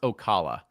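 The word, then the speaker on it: Osceola: It's pronounced Ocala.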